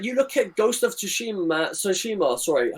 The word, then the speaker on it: Tsushima: Like, you look at Ghost of Tsushima. Sorry, I keep saying two because you don't pronounce the fucking T.